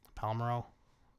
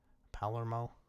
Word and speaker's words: Palermo: several yeah and they just lost several really Palmeiro Palermo you can't pronounce that oh there yeah they're done they're